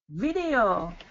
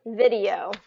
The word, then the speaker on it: video: Video. Yep, say it again. Video. Perfect. Yep, that's it. So it's that short I and long E, video.